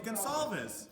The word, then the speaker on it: Goncalves: my last name is spelled Goncalves, so everyone, even though I correct them, still says Goncalves.